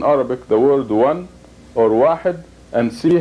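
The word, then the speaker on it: واحد: It is pronounced wahid. Wahid.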